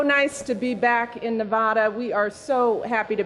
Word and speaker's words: Nevada: the ground shut up Ken you already lost Nevada for me once Nevada Ben what do we